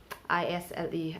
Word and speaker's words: isle: AISLE, isle, and then ISLE, isle. And next silent letter we have is T.